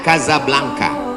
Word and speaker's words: Casablanca: nama negaranya Maroko ibukotanya tulisannya Casablanca cara bacanya kazab langka Kaza artinya rumah blanka